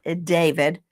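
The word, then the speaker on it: d4vd: It looks like D4 VD. It's David.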